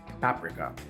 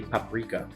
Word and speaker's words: paprika: Paprika. God, I still don't know how to pronounce that. Oh, okay, according to this, it's actually paprika, not paprika. Like Africa.